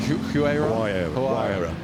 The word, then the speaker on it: Huayra: Huayra? There we go. Yeah, and we've got Huayra R also on the hill, you might see.